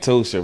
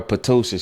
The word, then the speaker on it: Ptosha: I got a friend named Tosha, right? And she spelled her name Ptosha. The P is silent. And if you call her Patosha, she would have a fit.